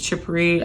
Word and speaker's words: chypre: Next family, which is chippery, I believe that's how you say it.